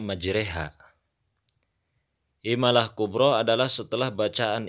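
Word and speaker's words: مجراها: Pada lafad majroha, maka cara membacanya majreha.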